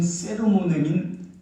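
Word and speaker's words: sermonem: 이게 발음대로 하면 돼. 세르모넴. 말씀으로 오신 예수 그리스도. 말씀이신 예수 그리스도. 태초에 계신 말씀이라고 성경에 보면 요한복음에 나옵니다. 그러니까 성령께서는 말씀 선포인 베르금 설교를 수단위로 하셔서 말씀 자체이신 세르모넴인 예수 그리스도를 증거합니다.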